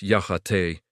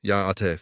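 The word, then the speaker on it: Yá'át'ééh: It's Ya'ate. Notice the high tone on the te part. Try it with me, Ya'ate, fantastic.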